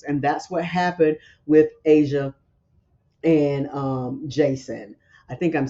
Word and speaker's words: Aysia: And that's what happened with Asia and Jason. I think I'm saying it right. It's spelled Aysia, so I'm thinking it's Asia.